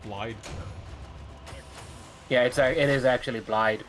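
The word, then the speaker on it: Blaidd: name is pronounced Blide. Yeah, it is actually Blide, but I don't do that. No one does. The other characters keep pronouncing his name Blythe.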